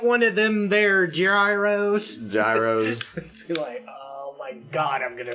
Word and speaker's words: gyro: at me like good it's a gyro yeah a gyro like a year like year Oh gyro thank you and she